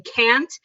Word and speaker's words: can't: I can't do something. You don't hear a T. We just say it so fast.